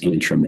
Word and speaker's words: Antrim: The county is Antrim, Antrim, Antrim County, Michigan.